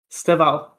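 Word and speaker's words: Estêvão Willian: Steval, no e. Esteval. No e. Just Steval. Steval.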